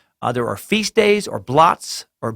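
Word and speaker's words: blót: There are feast days or bloats, pronounced like bloat. It comes from the same root as bless. Okay, it's B-L-O-T-S, pronounced as bloat.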